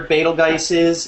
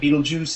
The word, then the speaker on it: Betelgeuse: watching you're not familiar exactly where beta guises or Betelgeuse is or however you want to pronounce it it's the very